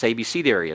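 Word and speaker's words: abecedaries: BC in Palestine several ABC iies have been found and it's just like it sounds a b c d just add the area on the end and it's ABCD area it's an alphabet and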